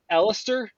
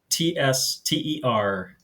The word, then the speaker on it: Elitster: You can follow him on Twitter at is it Ellister? Is that how you say it? Elitster.